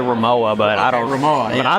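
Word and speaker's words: Rimowa: say it Rema Rema how do you pronounce it in German this is said as remova oh man that's awesome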